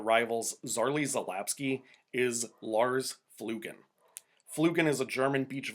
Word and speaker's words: Flüggen: Zarley Zalapsky is Lars Flugen. Flugen is a German beach volleyball player. When I heard his name in the Olympics, all I could do was say it like Hadouken.